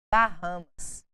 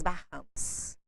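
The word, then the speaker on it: Bahamas: foi feito culturalmente aqui nós brasileiros pegamos a letra h do nome do país em inglês e colocamos o som dela em inglês e acabamos pronunciando esse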